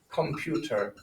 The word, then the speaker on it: Computer: to any german because computer is an english word so they adopt that u sound in computer computer okay and then